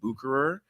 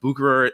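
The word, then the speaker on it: Bucherer: do it any better from what i've read online it's pronounced bucurer although i'm sure if you and i were friends we would say boucher or something like that um but buchurer 1888 time machine is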